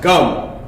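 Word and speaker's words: גם: word in Hebrew called is pronounced gum or GMA right is a slang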